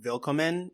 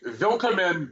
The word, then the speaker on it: Willkommen: Because it's spelled with a W, but pronounced like a V. That's how you know it's German. Also, Rocky, Willkommen, bienvenue, welcome, is the